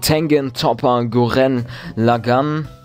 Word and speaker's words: Tengen Toppa Gurren Lagann: Für die, die es wissen wollen, es ist der Anime Tengen Toppa Gurren Lagann. Das war jetzt aber richtig ausgesprochen.